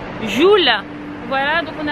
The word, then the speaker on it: Jewel: Bienvenue à Jewel. Jewel qui se prononce Joule.